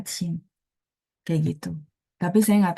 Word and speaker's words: 清: Bacanya cing, kayak gitu.